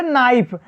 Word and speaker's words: knife: के कब साइलेंट रहेगा, जब किसी वर्ड के शुरुआती में के आए उसके बाद यन आ जाए तो केस क्या रहेगा साइलेंट रहेगा। जैसे नाइफ, आप देखेंगे KNIFE, तो यहाँ यन के